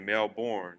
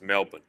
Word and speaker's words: Melbourne: And I am pronouncing that right cuz when I went to Australia and I said Melbourne, they said you must be American. It's Melbourne.